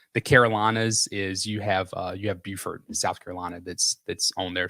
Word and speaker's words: Beaufort: So a little quick tip, if you're not from North Carolina or from South Carolina, so you have Beaufort, South Carolina, and then you have Beaufort, North Carolina.